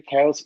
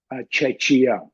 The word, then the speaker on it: Czechia: can just tell them well it's cha not CIA then people argue that